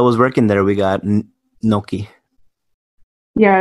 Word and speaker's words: gnocchi: It's like gnocchi. So, like, the G is, like, an emphasis on the N somehow?